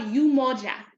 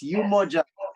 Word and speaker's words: Umoja: to you sister girly so the program is called umoja u m o j a and Nelly is yes you Mojo so much apology for mispronouncing that the first time so um yes so